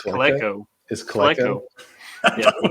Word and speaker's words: Coleco: I thought it was Colco. Colco. Is it it's Coleco.